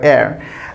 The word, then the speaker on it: heir: যে এয়ার আছে, HEIR, এয়ার। তো এয়ার অথবা এয়ারেস, তো এয়ার এখানে কিন্তু হেয়ার হয় নাই, উচ্চারণ কিন্তু হেয়ার না, উচ্চারণ হচ্ছে এয়ার। তো এখানেও এই এইচটা হচ্ছে সাইলেন্ট, ই থেকে উচ্চারণ শুরু হয়েছে, এখানে ই থেকে উচ্চারণ শুরু হয়েছে।